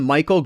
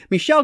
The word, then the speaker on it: Michel Gondry: Gondry, which I know I called him Michael Gondry in one of my videos I filmed recently, and I'm like, what are you doing? Oh my gosh, like, I know how to say his name, I feel like such an idiot. But anyway, Michel Gondry, The Science of Sleep.